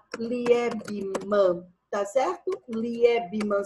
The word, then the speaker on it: Liebman: Liebman se fala Liebman. L-I-E-B-A-M. L-I-E-B-A-M, tá certo? De Liebman. L-I-E, deixa eu só colocar aqui, L-I-E-B-M-A-N. Agora sim, Liebman. Escrevi certinho. Teoria eclética de Liebman.